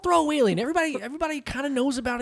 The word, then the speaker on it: Throawaylien: It's not throwaway alien, because we did do an episode about this before. But if you want to pronounce it right, I feel like it's Throawaylien.